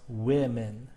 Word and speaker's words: women: the spelling of women it is the pronunciation the first syllable rather than the second that changes women is pronounced wo uh or woman uh women is pronounced women okay the second syllable